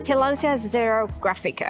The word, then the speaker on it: Tillandsia xerographica: It's Tillandsia xerographica.